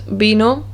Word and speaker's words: vino: v into this because b and v are identical in sound they both make the b sound the ba sound for example the words bino which means wine and the word baka which